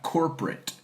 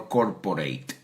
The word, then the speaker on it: corporate: Because if you look at corporate culture, vamos a pronunciar esta palabra, corporate, no corporate, right?